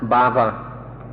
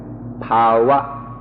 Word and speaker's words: bhava: pop blue top this this word that I pronounced bhava is spelled BH a VA and my pronunciation has been corrected to power ha ha ha McNutt